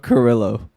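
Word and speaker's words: Carrillo: one more time so I could try to pronounce it right. Hberto Carillo.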